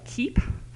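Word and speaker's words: CEAP: And with that, it's a group called the Community Environmental Action Partnership, or KEEP. I know we use a hard C there.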